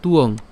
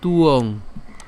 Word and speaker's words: ত্বং: তাহলে যদি আমরা একসাথে যদি উচ্চারণ করতে যাই তখন একে আমরা এভাবে উচ্চারণ করবো, তুয়ং। ঠিক আছে, তুয়ং, তুয়ং।